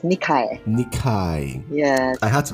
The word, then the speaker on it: Nikae: is that pronunciation correct uh last name is pronounced nikai nikai yes I had to go to Google